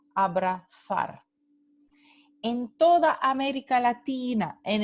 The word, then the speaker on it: abrazar: En el norte y el centro de España, esta palabra se pronuncia abrazar, th.